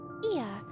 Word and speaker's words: Ea: When the vibration of vocal folds was still required to convey our thoughts and intentions, Ia, I believe, was the pronunciation used when referring to our people, though it is not entirely applicable given our present state.